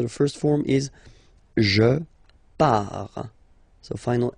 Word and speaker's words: pars: So the first form is je pars. So final S not pronounced, je pars. Tu pars, same form, you can see here and here. So final S not pronounced, tu pars.